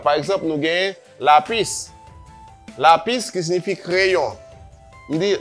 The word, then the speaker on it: lápiz: Me dit el lápiz, el árbol. Ou après marqué la pis. Nous deux syllabes, pas vrai? Mais l'accent est tombé sur premier syllabe là.